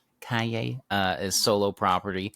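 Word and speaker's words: Calle: Kaye is solo property.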